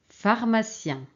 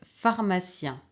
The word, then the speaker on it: pharmacien: e alors ici c'est pharmacien pharmacien qu'est-ce qui manque ici manque pH très bien pH on prononce F pharmacien alors ici c'est équilibre